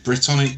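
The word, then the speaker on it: Brythonic: Britonic, by the way, is spelled B R Y T H O N I C. It sounds very similar to the to Britain, the you know the the country, but it's it's spelled differently.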